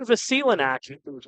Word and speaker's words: Vasilinac: Vasilinac, Torin Vasilinac is the pronunciation that I was told by the Chatham-Kent Barnstormers.